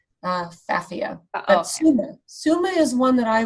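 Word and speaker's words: Pfaffia: and it's Phaphia paniculata, but it starts with a P. The P is silent. Phaphia.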